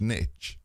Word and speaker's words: niche: cron is it really it's like all say nich Niche yeah they say a lot